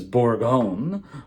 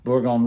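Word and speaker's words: Bourgogne: about what burgundy is burgundy and in French spelled like that hopefully that's in focus for you is borgon borgon Rouge we're only concerning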